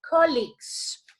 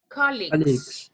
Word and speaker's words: colleagues: One evening in 1949, Frank McNutt had an important dinner meeting with 2 business colleagues. What's the pronunciation of that word, please? Colleagues.